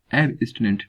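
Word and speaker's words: abstinent: एब्स्टिनेंट की अगर मैं बात करता हूँ इसका प्रोनाउंसिएशन, तो आप यहाँ पे हाई पिच रखेंगे और अगेन यहाँ पे लो पिच एब्स्टिनेंट, ठीक है।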